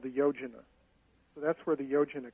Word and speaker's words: Yojana: as a unit of distance called, and you pronounce this again, Yojana.